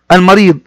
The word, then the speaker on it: المريض: يسعف ويدل على السرعه، يسعف اي يعالج المريض. جمع كلمة المريض المرضى، جمع كلمة المريض المرضى، وهذه اسم. ويسعف فعل، والمريض بها لام قمرية، لام تكتب وتنطق، وأيضا بها مد بالياء.